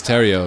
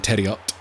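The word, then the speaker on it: Theriot: And here's Terrio again. Merluzzi calls him Terriot. That's not how he pronounces his name.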